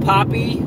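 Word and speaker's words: Papé: there's a lot of poppy or pape I think you pronounce it Pape uh there is a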